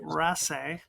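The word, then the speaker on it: Raasay: letters cards and letters this is from the is of Ras that's how you pronounce it which means the uh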